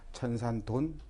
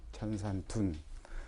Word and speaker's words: 천산둔: 이 둔자는 돈으로도 있고 둔으로도 읽습니다. 천산돈, 천산둔. 아무 걸로 읽어도 뭐 틀리거나 맞거나 그러진 않습니다.